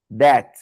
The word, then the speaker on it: that: And remember, that. Aquele T no final só pontua que tem um T ali.